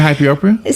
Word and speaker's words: hyperopia: Latent hyperopia?